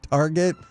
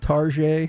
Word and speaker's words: Target: Like, Target. You never heard it called Tarjay?